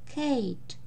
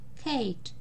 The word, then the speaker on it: Kate: Например, Kate, и на конце не читаем, а гласный читаем так, как он называется в алфавите. Kate, имя Kate. Pete, имя Pete.